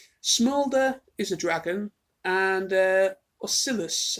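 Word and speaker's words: Ocellus: is a dragon, and Oscillus, I believe that's how you pronounce it, is a changeling, and Silverstream as well, who's a hippogriff.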